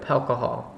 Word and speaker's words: Palcohol: Alcohol can go anywhere with Palcohol. Alcohol. Just put a P in front of alcohol and that's how you say it.